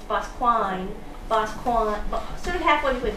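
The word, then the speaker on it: Boscawen: Well, my other aunt says, no, no, no, it's Bosquine.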